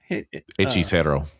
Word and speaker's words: Hechicero: Hechicero.